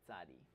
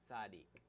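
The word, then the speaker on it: צדיק: So some people just call it tzadi, and some people call it tzaddik. So I think tzaddik is actually the actual name of the letter, but a lot of people shorten it and don't pronounce the kuf on the end.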